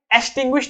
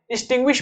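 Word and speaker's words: extinguish: इसे याद रखना, इसे एक्सटिंग्विश नहीं पढ़ते हैं, एक्सटिंग्विश पढ़ते हैं। ई से इसकी प्रोनाउंसिएशन स्टार्ट होती है।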